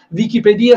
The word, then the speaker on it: Wikipedia: più inserirci inserirci nulla allora Wikipedia si pronuncia così perché Viki so anche di aver messo un pochino in crisi il mondo della controinformazione con questa pronuncia ma è così perché la stessa Wikipedia